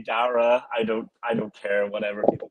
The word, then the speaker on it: Daire: I respect the Daire. Everyone likes to go that route because of Jair. I mean, it should be phonetically similar. It's technically Dara.